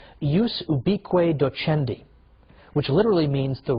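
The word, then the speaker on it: ius ubique docendi: there was something called in Latin and I'm using the church pronunciation use be Cueto Chen D which literally means the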